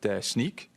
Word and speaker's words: Snyk: I mean, I was told it's Snyk, like sneaker, okay?